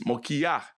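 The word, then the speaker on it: מוכיח: So just so you know, mokia sounds quite phonetically, right? It's not Moshiach, it's Mokiach, right?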